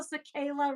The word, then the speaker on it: Cicala: So guess away, Joe Cicala rhymes with cicada.